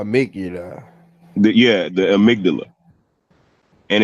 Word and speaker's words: amygdala: say it is amygdala it's spelled amy godalla but it's called the amygdala it's basically like what